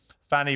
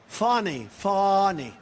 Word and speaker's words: Fani: And not only that, all these local cases like Fani. It's spelled Fanny. It's spelled Fanny like your ass, right, Fanny? But when she became DA, she decided to add a little French, a little fancy.